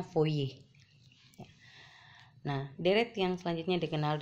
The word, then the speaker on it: Fourier: Baptis Joseph voice ya jadi for ini menanya dibacanya foye nah deret yang selanjutnya